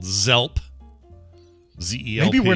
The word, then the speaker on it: Zelp: company is called Zelp, is it actually called Zed-Elp? No, because you're not spelling it. It's only Zed when you say the letter. Okay, so it's always pronounced like Z. Z.